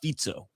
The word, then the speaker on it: Fico: Fic No, it's spelled Fico but it has that little curly cue on the bottom of the C and you're told it's a Z so it's Fico.